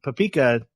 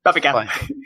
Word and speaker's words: Papika: It's Papika. That's how it's spelled. It's not going to happen. Paprika. Because I see paprika, and I'm trying everything not to say the R, and that's just how it's going to be.